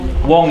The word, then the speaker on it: Wong: So Wang in English and Wong in Samoan, the Chinese pronounce them both the same, Wong.